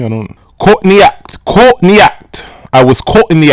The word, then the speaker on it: Courtney Act: a pun on on her name is a pun on caught in the act but you know us Americans we just we have to over pronounce those arse and we say Courtney act and so a lot of people don't get the pun but I think if